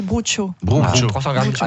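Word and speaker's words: brocciu: Vous Michel, prenez parce que 300 vous, grammes de broccio. Alors, je sais pas prononcer, moi. Ah oui, attends. Bruccio. Bruccio. Bruccio, On voilà. le dit bien ou pas? On dit bruccio.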